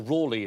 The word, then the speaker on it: Raleigh: because it it was rally and then Raleigh or Rawley as you pronounce it sir he added the